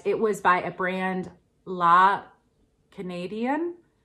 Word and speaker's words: La Canadienne: but it was by a brand, La Canadienne. Yeah, I think that's how you say it, but it's not spelled like Canadian, it's spelled slightly different.